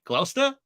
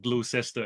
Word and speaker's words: Gloucester: I'm in Cheltenham Gloucester is that how we pronounce it did I do it right Gloucester not glue sister as much as you